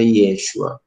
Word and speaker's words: Yeshua: Em hebraico, né, o J, ele sempre vai ser como Y, né? Então, pronuncia Yeshua. Então, Javé salva.